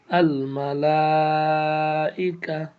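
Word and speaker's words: الملائكة: মালাই, calf জবর কা, আল মালাইকা, তা পেশ তু, এখানে তাটা আছে এই জন্য এখানে হার মতো উচ্চারণ হবে আল মালাইকা।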